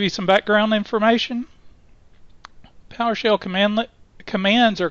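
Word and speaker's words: cmdlet: some background information Powershell commandlet commands are called commandlets and commandlet is pronounced pronounced command let not cmdl I've heard cmdl and that just drives me crazy commandlets are in the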